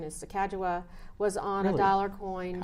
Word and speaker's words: Sacagawea: some kind of money very early on right Sacagawea accept the correct pronunciation is Sakawa was on a dollar coin susan b anthony